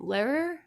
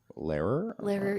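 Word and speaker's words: Lehrer: a lot of old footage of um Tom Larer. Larer. Yeah. L E H R E R. I can never pronounce it.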